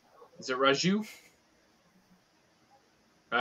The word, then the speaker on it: Raju: the J is it Raju all right you're I'm you thank you sorry guys yeah it's like Raju like a soft J not Raju it's not like yeah